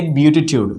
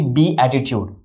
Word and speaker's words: beatitude: They say beatitude, which is not correct. It is actually be attitude. It is often mispronounced. Observe the pronunciation also. It is not beatitude, it is beatitude. Beatitude, that is correct.